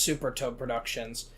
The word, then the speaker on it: Supper Toad Productions: Well, spelt Supper Toad Productions, pronounced Super Toad Productions.